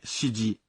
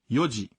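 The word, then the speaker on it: 四時: 4 horas não é shiji, se diz yoji.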